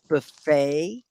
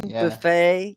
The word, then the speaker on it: buffet: you heard that one buffet yeah no they don't say the t and that's why you know it's french right it sounds like but it looks like buffett but it sounds like boo let's see more like